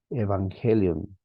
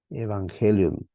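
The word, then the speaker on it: εὐαγγέλιον: palabra que necesitamos memorizar evangelion evangelion esta ng o mejor dicho estas dos gamas se pronuncian como la primera como una n perdón y la segunda como una G una G evangelion buena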